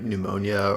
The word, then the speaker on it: pneumonia: It could have been like pneumonia or just some respiratory infection.